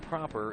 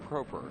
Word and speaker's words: Proper: facebook informing me that i have been pronouncing his name improperly it's not proper it's proper so anyway good job